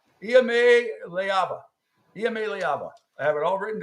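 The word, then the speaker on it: Iamaleava: No, here's how you say his name. I have it written down here phonetically. Iame Leava.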